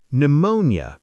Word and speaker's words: pneumonia: Pneumonia. P N E U M O N I A. Pneumonia, a lung illness. No P.